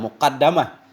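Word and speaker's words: مقدمة: fathiha dengan fathahnya dal, muqaddamah. Dengan fathahnya dal ala qillatin di atas sedikit fi lughatin pada satu lugat. Ada juga satu lugat dari kabilah tertentu bacanya muqaddamah.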